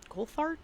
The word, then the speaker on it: Coulthard: Coulthard?